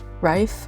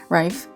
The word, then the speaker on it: Reif: done a lot of pamela rife or yeah i think that's how i pronounce it rife um i also done